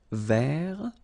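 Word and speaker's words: vert: remember J rou so masculine form you don't pronounce the final T ver feminine form ver so listen carefully I don't say t but it's okay so as usual this final only gives you the possibility to pronounce this T ver okay Mar same thing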